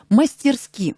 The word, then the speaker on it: мастерски: Мастерски. Мастерски. Мастерски, правильно. Ударение на «и».